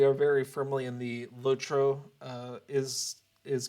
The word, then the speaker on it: LOTRO: this household we are very firmly in the lotro uh is is correct camp and so whenever we hear someone pronounce it lacho it just it's not wrong but it's a